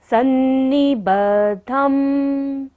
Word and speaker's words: सन्निबद्धम्: द के नीचे देखिए ध है और द के ऊपर बिंदु जो है, यहाँ पर हम बिंदु का उच्चारण म करेंगे क्योंकि ये फर्स्ट लाइन का हमारा लास्ट अक्षर है।